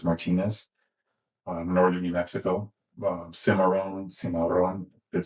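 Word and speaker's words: Cimarron: My mother was is was Martinez, Dietress Martinez, northern New Mexico, Simaron, Simaron, did say it correctly.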